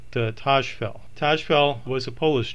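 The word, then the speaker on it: Tajfel: next up is honorary Tosh fell I've heard his name pronounced the number of different ways Taj fell Tosh felt and also T fall I'll pronounce it Taj fell Taj fell was a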